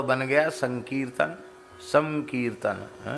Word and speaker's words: संकीर्तन: अनुस्वार का उच्चारण जो है परवर्ती वर्ण के अनुसार होता है। तो का है ना, तो कवर्ग का अनुनासिक वर्ण क्या है? ग, का खा गा खा ग के जैसा उच्चारण संकीर्तन, संकीर्तन। कीर्तन तो है कीर्तन, और संकीर्तन क्या है?